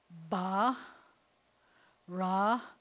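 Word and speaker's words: ברא: So this word is ba, ra, but if I were reading it as a whole word, I would say ba-ra, with the accents on the second syllable.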